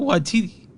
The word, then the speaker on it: Waititi: I learned how to say it properly. I did too. I did too. I got it. Taika Waititi.